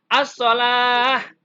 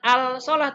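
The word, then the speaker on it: الصلاة: aldol Allah tapi adlalah assolach bukan al-shalah tapi asal dan ciri dari alif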